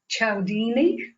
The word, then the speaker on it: Cialdini: Robert Cialdini. Is that how you pronounce his name?